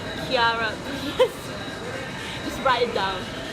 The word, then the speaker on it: Chiara: Chiara.